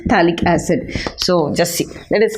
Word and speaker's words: phthalic acid: P is silent, phthalic acid.